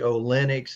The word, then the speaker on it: Olynyk: pronouncing Definitely, Kelly Olynyk's name correctly. I always hear people mispronouncing that one. I'm not the greatest at pronouncing some people's names because I hear apologize. I have Olnick butchered and some, Alnick.